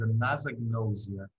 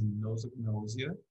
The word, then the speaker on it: anosognosia: to Katie, I think the first announcement was anosognosia, which is something that sometimes people spell that way, but it's probably not the most correct spelling. So the most correct spelling is anosognosia, which comes from Greek, of course.